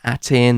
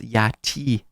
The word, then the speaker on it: Aten: the linguists state, that it wasn't pronounced Aten or Yaten or Aton, it was pronounced Yati, which is very similar